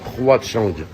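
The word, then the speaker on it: Huaqiang: Ça se prononce Houachang. Parce que le H en chinois, c'est Hua.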